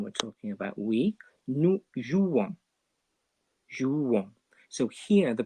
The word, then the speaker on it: jouons: We don't pronounce that S still, just like in tu, because it's the very last letter, but we do pronounce the O and N.